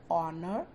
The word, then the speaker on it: honor: But for words like honor, honest, and are, where the letter H is silent, we use an.